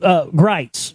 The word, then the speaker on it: Gritz: But see, now that I've fully exposed Greitz, not Griggs, but yeah, Greitz.